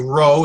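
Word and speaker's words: ρ: a sound doesn't pay this is a row it's not a P a row has an R sound as it ring up I love doing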